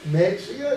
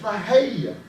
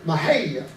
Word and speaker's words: Mexia: And my buddy said, it ain't Mexia, it's pronounced Mahia. I said, that is Mexia. And he said, Mahia.